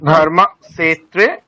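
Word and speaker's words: धर्मक्षेत्रे: আচ্ছা আপনার কিন্তু এই মানে ওটা মূর্ধন্য স আছে, ঠিক আছে, আপনি দন্তস্বর উচ্চারণ করছেন, ধর্মক্ষেত্রে। হ্যাঁ, কিন্তু আপনি উচ্চারণটা করছেন মানে দন্তস্বকারের, ওটা স আছে মানে, আচ্ছা স হ্যাঁ তাহলে উচ্চারণটা কোথায় হবে, স যেখানে ধর্মক্ষেত্রে। টকারটা যেখানে উচ্চারিত হচ্ছে সেখানে হবে, আচ্ছা তাহলে ধর্মক্ষেত্রে মানে উপরের দিকে জিভ, ধর্মক্ষেত্রে কুরুক্ষেত্রে।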